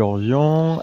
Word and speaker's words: Orvion: Salut Orvion. Bonjour. Je prononce bien ton pseudo, hein, jusque là on est bon. Oui, Voilà. oui, tu peux dire Orvi si tu veux.